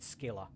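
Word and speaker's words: Scylla: returns to the port I don't care if it's pronounced Sila I'm going to call it skila because skila sounds more bad as to deport with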